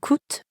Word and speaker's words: coûtent: Here, coûte ends in ENT, and croissant ends in S. But we don't pronounce those letters at the end, which we know sometimes happens in French.